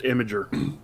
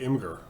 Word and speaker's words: Imgur: I think it's actually pronounced Imager. But I don't like saying Imager. I like to say Imgur.